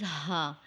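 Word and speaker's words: هاء: read once again wow the letter name is ha it is just like the English letter H sound ha is a light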